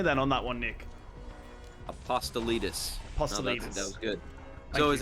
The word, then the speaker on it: Apostolides: his nick's last name apostle leaders if i'm saying it correctly that's exactly right dude i think the challenge me then on that one nick apostelitis that was good so